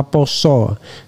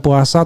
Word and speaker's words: Pasa: Ingat ya, tulisan Jawanya adalah Pasa sesuai huruf Jawa atau bacanya adalah Poso. Jadi bukan puasa tetapi Pasa. Sasi Pasa dalam bahasa Jawa artinya bulan Ramadan.